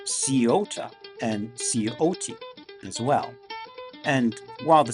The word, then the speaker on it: Scioto: And I've also heard it pronounced Sciota and Scioto as well. And while the spelling variations are numerous, at least everyone pretty much agrees that the C in this case is silent.